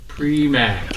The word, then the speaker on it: Primack: Primack.